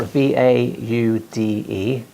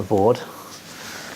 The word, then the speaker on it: Vaude: It's spelled V-A-U-D-E. I think it's pronounced Vaude, not Vord.